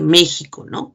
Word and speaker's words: México: a pronunciar como tal como el caso de méxico como si fuera una jota está equis entonces se